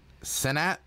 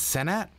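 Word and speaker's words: Cenat: mean it feels like nah it's pronounced senat it's senat so it's Kai senat okay got you it's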